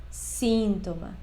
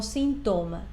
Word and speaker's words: síntoma: palabra síntoma Y fíjate muy bien Cómo se pronuncia síntoma no síntoma sino síntoma ahora después tenemos por último la